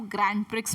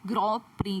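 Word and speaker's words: Grand Prix: अब सब आप लोग इसको ग्रैंड प्रिक्स बोल रहे होंगे। ठीक है, इसको इंग्लिश में प्रोनाउंस करते हैं ग्रॉ प्री करके।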